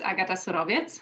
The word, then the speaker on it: Agata: yeah as you said my name is agata that's how you pronounce it with my my polish words so um i am